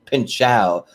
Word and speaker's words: Pinchot: get started that that don pardo mispronounced my name it's actually pin chao okay so so that's